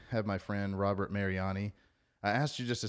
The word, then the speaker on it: Mariani: to it today i have my friend robert mariani i asked you just a second ago how i pronounced your name but uh tell me tell